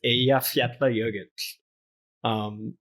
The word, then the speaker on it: Eyjafjallajökull: And there's like 100 YouTubes of news anchors flubbing the pronunciation. It's Eyjafjallajökull.